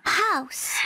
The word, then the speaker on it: house: House. House. Các bạn nhớ nhẹ đằng sau nhé.